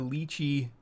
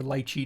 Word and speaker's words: lychee: I got a bunch of lychee or lychee depending on how you like to pronounce it uh playlists on